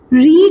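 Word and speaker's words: read: I have not रीड की third form होती है रेड। लेकिन स्पेलिंग क्या होती है? सेम होती है। लेकिन रीड क्या करते हैं? पढ़ते क्या है? रेड पढ़ते हैं।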